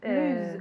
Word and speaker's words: lose: It's with an S sound, because if we say a Z sound, what does it mean? Marina, lose and loose.